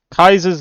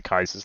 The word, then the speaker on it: Caesar: the big boys here you have Kaiser's Legion I'm going to call it Caesar's Legion pretty much all the time official pronunciation I'm pretty sure is the Kaiser's Legion and then over here